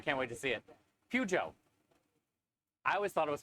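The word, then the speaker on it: Peugeot: Oh, there's no T. That's how you say it. Pujo.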